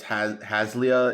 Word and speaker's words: Haslia: I think it's Haslia is the way they pronounce the god's name.